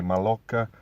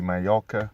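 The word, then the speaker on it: Mallorca: my or my locker we might we read it and say my locker but it's actually Majorca two L's is like a why I know Spanish expert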